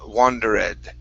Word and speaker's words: wandered: it, you had said wandered. Okay, so this time when you practice it, you gave me a good ed sound, so that's good. Make sure not to pronounce this e right there.